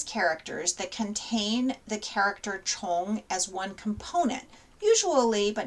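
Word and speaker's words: 虫: insect or worm and we pronounce this character chong now the character chong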